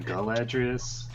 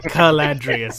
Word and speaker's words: Caladrius: Are you sure it's not Galadrius? No, it's specifically Caladrius with a hard C.